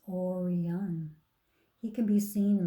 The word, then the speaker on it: Orion: is called the hunter the hunters name is Orion you say it like this Orion he can be seen